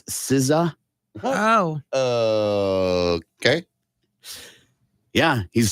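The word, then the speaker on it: SZA: the letters are s Za s Za yeah zah uh that apparently is not correct it's siza oh okay yeah he's a singer songwriter he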